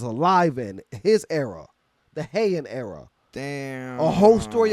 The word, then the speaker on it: Heian: Heian era. Heian. Yes, high-end Heian. Some people pronounce it differently. I say Heian. Some people say high-end era.